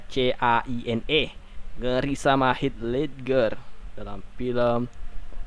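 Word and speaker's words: Caine: Joker love you 27 Michael Kaini Kaini dibacanya qne Negeri sama Hitler dalam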